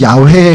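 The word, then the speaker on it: 야훼: 우리 지난번에 했지만 원래이 발음은 야회에 가깝다고 이제 성경학자들이 얘기하는데 발음을 안 하다가 잊어버리니까 아도나이의 그 발음 그 모음을 차용해서 붙이다 보니까 여호와라는 발음이 나오는 거예요.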